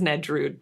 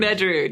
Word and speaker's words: Nedrud: Most people don't know how to say it, so. Interesting. It is Nedrud, though. Okay. Yeah. Nedrud. Nedrud, you got it, yes.